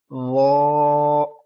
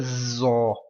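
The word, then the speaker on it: ظ: Don't pronounce this letter zo. Zo. Z. This sound. Listen again. Z. This sound. Don't pronounce with this sound. This letter is lo. Don't say za and za and zo. Read this letter. Lo. Lo. Lo. Okay, and don't round your lips.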